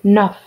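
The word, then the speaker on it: neuf: h is silent wheat number nine nuff like a nerf gun enough number 10 this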